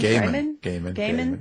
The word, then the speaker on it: Gaiman: Gaiman.